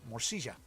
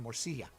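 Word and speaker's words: morcilla: america um down there there's a version called uh morsija um or if you're using the non-argentinian pronunciation morsila and it's kind of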